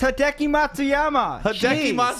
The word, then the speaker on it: Hideki Matsuyama: on hideki congratulations it's a hard name to pronounce all right it's hideki matsuyama i spent so much time with that last